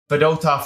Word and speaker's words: Fedotov: So anyways, Fedotov is how you pronounce it.